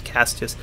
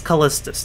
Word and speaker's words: Callistus: the third i think i was calling castius last time i don't know how the hell i was pronouncing this cassius this is callistus the third i'm pretty sure yeah